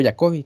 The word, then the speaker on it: Jacobi: el primero pónganle ahí método de jacobi o yacovi como lo quiero mencionar hay algunos que lo ponen como Jacob y como jacobi sí la pronunciación ahí de de la persona que lo propuso sí Ese es el